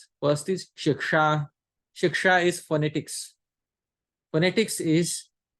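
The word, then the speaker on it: śikṣā: a DOT below it both have different pronunciations the first sha is to be pronounced by touching the lower palette sure and the second is sure that has to be pronounced by touching the upper palette so it is not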